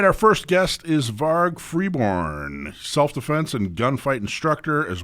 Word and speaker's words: Varg Freeborn: are you good good now did I I pronounced your name correctly right varg Freeborn yes that's that's correct yep excellent excellent welcome